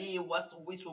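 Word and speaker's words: يُوَسْوِسُ: ইউয়াস, ওয়াও জের উই, একটা সিনের এপাশে ওয়াও ওপাশে ওয়াও হওয়ার কারণে অনেকে এখানে ভুল পড়েন।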